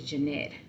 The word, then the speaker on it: J'ntt: My middle name is Jeanette, but it's spelled Junt because the misspelling that my mom did on my birth certificate.